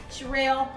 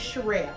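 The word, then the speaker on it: Cheral: with now I know you going to say Charelle that's crazy my real name is Charelle for those of you that hear for the very first time everybody calls me my government name is Shel and it ain't spelled with no s it's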